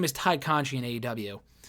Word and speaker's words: Conti: Her name is Ty Conchi in AEW. It's spelled Conti, but they pronounced it Conchi.